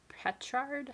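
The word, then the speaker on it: petrichor: dried okay and our last color is the pet Shard I think that's how you say it p-e-t-r-i-c-h-o-r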